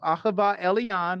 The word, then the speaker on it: Ah'Hava Elyon: The interview is of myself, Ahava Elyon. My name is pronounced Ah-Ha-Va El-Eon.